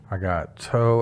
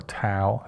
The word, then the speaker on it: Tao: Next up on my playlist here, I got Toe of Lucy, or Tao of Lucy, depending on how you pronounce T-A-O.